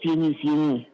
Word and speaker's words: Fieni: Monsieur Séni, j'ai du mal à entendre votre nom. C'est bien cela, Monsieur Séni, je prononce bien? C'est Fieni. Monsieur Séni. Fieni, F-I.